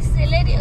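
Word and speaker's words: Celerio: म्हणजे चांगली चालते आणि सेलेरियो सिलेरियो ना सिलेरिओच बोलतात ना हा करेक्ट माझं प्रोनन्सिएशन कधी कधी गडबडत सेलेरिओ ही बेस्ट गाडी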